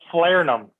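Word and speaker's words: falernum: How do you pronounce it? Flarenum.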